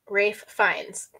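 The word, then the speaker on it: Ralph Fiennes: actor who plays Voldemort oh yeah raai fines Rafe fines David definitely said made me laugh I don't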